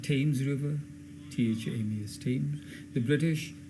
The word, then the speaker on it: Thames: Like Thames River, Thames, Thames.